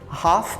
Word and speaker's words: half: pronúncia do half Porque apesar de que ele tem um l esse l não é pronunciado então a gente fala